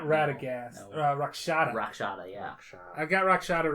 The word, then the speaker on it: Rakshata: Radagast? Not Radagast. No. Rakshata.